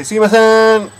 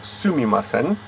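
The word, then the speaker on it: すみません: on the door and say Suimasen, or yeah, anything like that, any kind of bump. Sumimasen. But if you want to be a little bit more formal, you would step up to the full pronunciation of Sumimasen.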